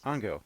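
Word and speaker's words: Ángel: His name is Angel, but they pronounce it... Ango, yeah. Ango Morales.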